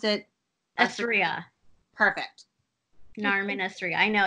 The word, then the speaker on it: Assria: Assria. Perfect. Narmin Assria. I know it. It's got ass in it.